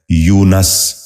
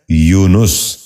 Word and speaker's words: یونس: ہضم۔ نواں لفظ ہے یونس۔ یہ غلط تلفظ ہے، درست تلفظ ہے یونس۔ دوبارہ سنیے، یونس۔ بچوں